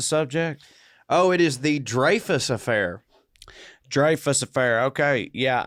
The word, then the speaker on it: Dreyfus: i thought of richard dreyfuss you know but apparently in france it is pronounced dreyfus even though most people definitely if you've heard of